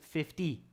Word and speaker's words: fifty: fifteen and this is fifty fifty there's a d sound there fifty so 2050 okay i